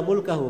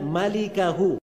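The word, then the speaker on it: مالكه: Itu bukan bacanya illa mulkahu, memang mim lam kaf ha, tapi bukan mulkahu bacanya illa malikahu.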